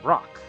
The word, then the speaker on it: rook: It's pronounced like the word rock. Sometimes it's pronounced rook. Well, that doesn't help. I was wanting to know if I was saying rook or rock, which one was correct. Apparently, it can be both.